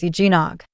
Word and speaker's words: eggnog: Some people say eggnog with an extra W sound, but that's not it. The correct pronunciation is eggnog. No extra W sound.